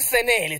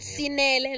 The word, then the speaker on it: Senele: But my name is spelled S-E-N-E-L-E. Again, meaning pronunciation is Senele. Not Sinele, not Sinam, not Sanele. Not Senel. Because when it was put